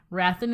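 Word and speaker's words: Hrathen: POV character the most wrathin rathin is spelled HR a t h e n most people like craft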